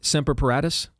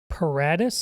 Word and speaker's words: Paratus: Seratus. That sound right to you? Paratus. Yeah. P A R A T- Us. Yeah, I would think so. Okay. Ser Paratus.